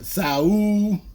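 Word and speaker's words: Saúl: tonight on Netflix between Saul, say it like Tarver, Saul, Right.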